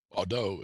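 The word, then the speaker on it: Baudot: Which of the following describes Baudet code or Baudet code, however you want to pronounce that? Bordeaux is the correct. It's French.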